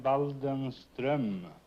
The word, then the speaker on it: Waldenström: In Sweden, you pronounce the name Waldenström.